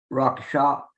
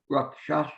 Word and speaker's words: rakshasa: hell, the dakinis and rakshasas. And it's kind of interesting because those dakinis and rakshasa, how do you say rakshasa? Rakshasa. I didn't come close on that one.